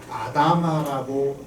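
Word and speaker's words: אדמה: 그 아담이 아니고 히브리어인데 아다마라고 이제 발음을 합니다.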